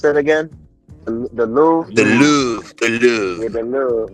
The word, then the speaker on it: Louvre: I'm gonna let y'all know when I get to the how you pronounce it again? The Louvre.